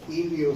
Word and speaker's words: hilio: pulmonar es muy interesante ilio se escribe así con h ilio pulmonar ustedes pueden